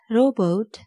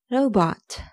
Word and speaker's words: robot: It's not robot, it's robot. Robot. Robot. Example sentence.